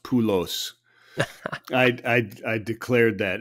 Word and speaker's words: Poulos: kid don't let him kid you people it's pronounced pulos I I I declared that in 2007 Greek